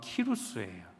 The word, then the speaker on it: 키루스: 고레스를 원래 발음으로 하면 키루스예요.